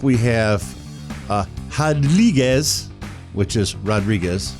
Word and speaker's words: Rodriguez: And then next up we have Rodriguez, which is Rodriguez, but anytime it's a Brazilian fighter. You get rid of the R and it's pronounced H.